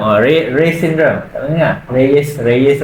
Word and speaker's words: Reye: Reyes or Reyes. I don't know lah how to pronounce it. It's REYE syndrome. Rey syndrome lah.